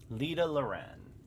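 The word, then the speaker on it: Lydha Lran: is in order let us set forth for leader luran L lauran that's how you pronounce it okay I am guessing lader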